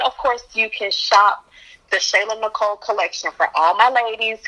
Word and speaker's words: TheShaylaNicole: on instagram i'm at the shayla nicole it's spelled just like it sounds t-h-e-s-h-a-y-l-a-n-i-c-o-l-e and um on